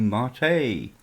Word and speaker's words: Mate: Hello, welcome to Simply Linux, where today we are going to have a look at Ubuntu Mate, or Mate, or however you want to pronounce it.